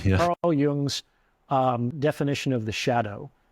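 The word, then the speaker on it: Jung: always say it wrong I've been correct Carl yung's um definition of the Shadow we often think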